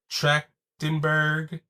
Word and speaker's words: Trachtenberg: Trachtenberg.